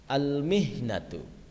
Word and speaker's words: الْمِهْنَةُ: Al-mihnatu. Oke. Al-mihnatu. Al-mihnatu artinya adalah profesi. Silakan. Al-mihnatu, ucap ulang. Selanjutnya muwadzafun. Oke, ini dibacanya muwadzafun ya.